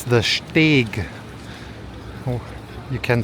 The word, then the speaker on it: Steg: Not steak. It's You pronounce it just like steak. No, it's the Steg.